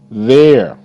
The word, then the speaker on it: there: the bed okay good there th air there there okay uh e is silent okay over there in